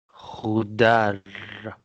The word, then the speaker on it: خضار: khudar, And it's not lam sound, it's ra. خضار. khudar, bread خبز.